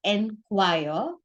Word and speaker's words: enquire: okay so the first the pronunciation of the first word with e is n choir and the pronunciation of the second